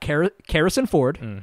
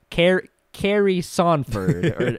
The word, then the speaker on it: Karrison Ford: We got Karrison Ford, which is how you pronounce it. Mm-hmm. she was kind enough to correct me whenever I shouted her out talking about the Kingdom Minds podcast. Mm-hmm. I was saying like, Carrie Sonford and shit like right.